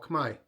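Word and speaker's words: Khmer: cambodians they're known as Kai that's how they pronounce their language and the culture and the people they're all Kamai means the same thing uh so Cambodian is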